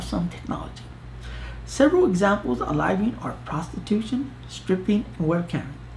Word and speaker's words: living: It is spelled L-I-V-I-N-G, just like the word living, but it is pronounced living.